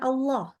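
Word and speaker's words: الله: ini lafaz jalalah ketika kalau cuma Allah aja ya itu juga tebal tapi ketemu wa ya tetap tebal Kenapa karena wawya harakatnya fathah maka Allahnya tetap tebal jadi baca bacanya wallah wallah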